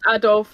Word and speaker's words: Adolphe: I think it's just Adolf, like the mustache guy.